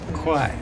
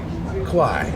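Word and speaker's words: 快: Kuai. Kuai.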